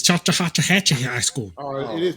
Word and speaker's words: Chattahoochee: It's Chattahoochee High School. Oh, it is Chattahoochee. No, that's not. It's Chattahoochee. That's Chattahoochee, like Alan Is it Jackson song. Yep. Chattahoochee.